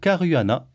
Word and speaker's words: Carruana: Seb tibax après Pascal Mulot on reçoit Alex Caruana est-ce que je prononce bien oui c'est ça tu je crois